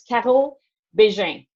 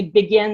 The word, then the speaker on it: Caro Bégin: how to pronounce it so it's kettle beijing which it's okay if you get it wrong and you could call me begin that's fine I'll turn around and